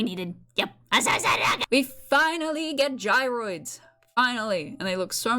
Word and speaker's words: gyroid: I might have been playing this game since fucking I was in the womb, but I don't know how to say gyroids. No, not gyro.